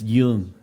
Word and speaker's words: Doung: name because it doesn't you can't read it and pronounce it you got to hear it it's young young like the the y sound okay so the my